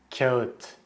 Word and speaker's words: kağıt: The reason it's tricky is because in Turkish there are technically two versions of the letter A. One is the regular A and the other one is the şapkalı A, which literally means A with a hat.